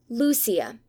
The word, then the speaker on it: Lucia: going down right note Lucia is pronounced Lucia Portuguese not Spanish reading Madame or rather